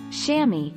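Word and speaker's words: chamois: divers use tiny towels called shammy pronounced shammy at major events the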